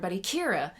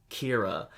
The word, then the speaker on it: Kira: actually kirakita but still kira is a like colloquialization whatever however trans literation of killer in english like if you were to create a english word and make it into japanese vowels and pronunciation it would become kira that's what it did